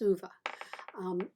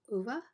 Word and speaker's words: Ove: I think it's pronounced Uva.